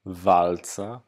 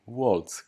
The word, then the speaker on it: Waltz: I to Amerykanie przyzwyczaili ludzi do takiej wymowy, a to jest austriacki aktor z niemieckiego pochodzenia tak naprawdę. I nazwisko zdecydowanie powinno się wymawiać Waltz, Christoph Waltz.